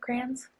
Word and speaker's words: Kranz: Is that how you say it, Kranz? Correct.